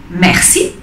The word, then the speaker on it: merci: como si cosa ahora para decir gracias se dice mercy mercy máximo muchas gracias